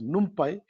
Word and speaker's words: NumPy: very important library is called num pipe some people will pronounce it as numpy but what does it